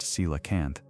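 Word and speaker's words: coelacanth: The coalacanth pronounced cilacanth was supposed to be fossil record only.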